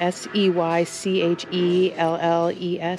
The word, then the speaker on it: Seychelles: These are some, are these some, yeah, I'm not sure how to pronounce it. S-E-Y-C-H-E-L-L-E-S, Seychelles.